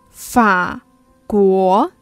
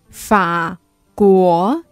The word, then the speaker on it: 法国: 法国 France 法国 The pronunciation starts with F 法 So when you want to say 法国 Think about how you pronounce France France 法国 Now read after me